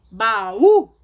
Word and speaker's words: baú: Baú. Sem acento fica baú. Faço ideia do que seja baú. É baú. Baú. Depois o número 6. Chapéu. Chapéu. Chapéu. Todas são acentuadas na última sílaba.